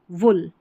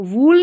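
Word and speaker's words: wool: Book, good, hood, वुड, वुल। तो वूल नहीं पढ़ना इसको, वुल।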